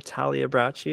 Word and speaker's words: Talabi: guys um so yeah my name is talabi that's how it's pronounced uh occup occupation it